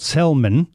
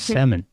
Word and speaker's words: salmon: silent well you know it's not called Salman why it's that's what it says no it's salmon that the L is silence like what yeah like